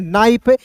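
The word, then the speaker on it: knife: हैं गेंट पढ़ते हैं के एन आई एफ को कनाइफ नहीं पढ़ते इसे पढ़ते हैं नाइफ।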